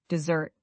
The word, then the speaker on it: dessert: Let's look at dessert versus desert. Dessert, the sweet food after a meal, has the stress on the second syllable and a z sound. Dz t.